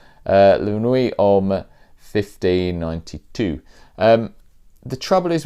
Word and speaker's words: La Nuits: should emphasize is called lunar we with an S on the end so you know I'm not gonna pronounce the T and yes cuz you know I've got a great French accent LuAnn we um 1590 the trouble